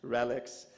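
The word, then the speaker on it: RELX: couple of centuries before it's part of the relics group that's how you pronounce it relics today Elsevier positions itself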